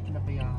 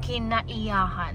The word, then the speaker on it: Kinaiyahan: Is actually how you pronounce it? Kinabayahan. Kinaiyahan.